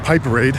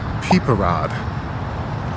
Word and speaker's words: piperade: and that dish was what I originally thought was called piperade but is actually phonetically pronounced peeper rod I think so I figured